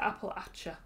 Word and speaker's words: Appalachia: We pronounce it Appalachia.